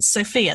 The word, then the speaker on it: Sofia: about area and you spend some time in Sofia the capital am i pronouncing that correct is it like the girl's